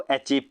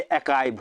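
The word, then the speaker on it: achieve: देखिए फ्रेंड, सबसे पहले तो आप लोग ये समझिए, बहुत से लोग इस वर्ड को अचीव पढ़ते हैं, ठीक है, तो ये अचीव नहीं होता है, अचीव इसका गलत प्रोनाउंसिएशन है, ये अकाइव होता है।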